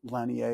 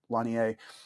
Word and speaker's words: Lanier: I think it's Jaron Lanier. It's spelled Lanier, but it's Lanier.